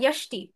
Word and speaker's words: যষ্টি: আর উনি বলেছিলেন যষ্টি। যষ্টিতো জ উচ্চারণ হবে না। ইষ্টি এভাবে হবে।